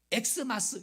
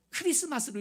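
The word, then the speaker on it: Xmas: 그래가지고 엑스마스 이렇게 여러분 우리는 읽으면 안 됩니다. 성탄절 때 크리스마스로 읽어야 돼요.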